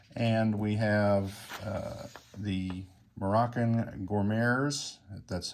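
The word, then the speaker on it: Goumiers: And we have the Moroccan Gourmets, that's how you say it, which will be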